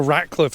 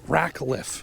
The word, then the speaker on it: Rackliffe: The Ratcliffe house. We've never been here. Am I saying it right? Rackliffe. Yeah.